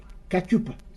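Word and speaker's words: cachupa: principale de de Cap Vert Cap Vert c'est katchup katchup je prononce ça bien hein oui katchup d'accord et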